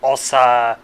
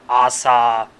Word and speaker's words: Asa: This is a name that does have multiple pronunciations like Osa, Assa, Asha, etc. Asa.